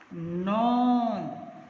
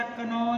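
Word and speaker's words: known: Same sound है, आर, नॉन। इसमें के की आवाज़ नहीं आएगी, कोई भी बच्चा कनौन नहीं बोलेगा, के साइलेंट है, के की आवाज़ नहीं आएगी।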